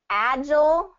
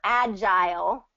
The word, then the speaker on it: agile: recording too so um agile or agile are the two pronunciations of that azure azure